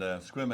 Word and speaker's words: Sequim: Pronounced as Sequim here. I think it's Just pronounce it like it doesn't have an E in it.